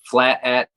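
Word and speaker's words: Flat Aht: right it's gonna at flat at dot com it's f l a t a h t dot com so apparently they say out and they spell it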